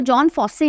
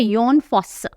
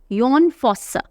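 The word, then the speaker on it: Jon Fosse: इसको जॉन फॉस्से नहीं पढ़ते हैं, यह है योन फॉस्स, योन फॉस्स।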